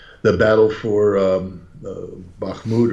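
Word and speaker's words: Bakhmut: battle for um uh bahmoud or or I can't am I pronouncing that incorrectly you're absolutely correct okay is uh you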